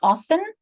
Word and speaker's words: often: Some people pronounce this often, often. Other pronounce it often, often. So that's the 4 or the 5.